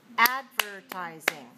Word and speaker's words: advertising: now number six is advertising ad advertising advertising advertising advertising has four syllables where is the stress first right so four dash one all right advertising four